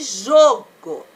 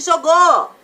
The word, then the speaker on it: jogo: Então, aqui, qual é a sílaba mais forte? É o jô. Aqui, ó, jô. Não tem acento, mas eu sei, porque é aquela sílaba que eu falo mais alto.